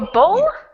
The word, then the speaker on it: bow: it all right well bo as in a pretty pink bow is usually a small